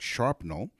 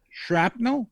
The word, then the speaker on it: shrapnel: pronounce things all right we all know what sharpnel is right you know people usually uh when they get blown up is because they get hit with sharpnel shrapnel shrapnel yeah i'm real